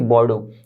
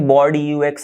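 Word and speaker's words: Bordeaux: Okay, बॉर्डो, तो ये पूरा स्पेलिंग ऐसे बॉर्ड यूएक्स ऐसे कुछ मत पढ़ना, ये सिर्फ बॉर्डो मिक्सचर है, बॉर्डो DAU।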